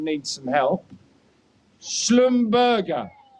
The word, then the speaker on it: Schlumberger: oil field service provider, and here's where my pronunciation needs some help. Schlumberger. Schlumberger.